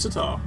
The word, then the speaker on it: sitar: angry at a sea apparently it's actually pronounced sitar I don't know where